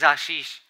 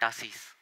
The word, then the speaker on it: Ashish: friend told me that your name is Ashish and not Ashish. It was kind of strange to know that I was pronouncing even my own name incorrectly for 15 years. For those of you who have been to Bihar would know that we pronounce S instead of SH. So for Sham, we would say Sam.